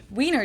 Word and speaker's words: Wiener: In German, we say Wiener, the German W is pronounced like an English V, and it usually refers to the sausage.